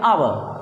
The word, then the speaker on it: hour: तो हमारा कॉन्सोनेंट है, लेकिन उसके बावजूद भी हम जब बोलते हैं इसको तो बोलने में जो हमारा एच होता है वो साइलेंट होता है। तो प्रोनाउंसिएशन जब हम देखते हैं तो प्रोनाउंसिएशन में आता है आवर।